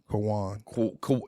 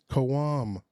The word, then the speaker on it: Quham: Kawan. No. Kawan. It's an M. Kawam. That's what I'm Kawam. saying. Oh, I thought you said Kawan. No, Kawam. Kawam, and his last name is Babatundi.